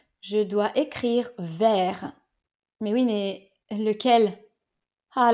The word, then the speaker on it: vers: une orientation exemple aller vers quelque chose ou quelqu'un en anglais to white et voici quatre mots qui ont la même prononciation vers mais une orthographe et